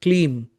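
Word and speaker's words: Kleem: Here you say the mantra ba mantra clean k l e e m.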